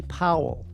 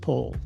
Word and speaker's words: Powell: You might be tempted to call him Anthony Powell. It's actually pronounced Pole.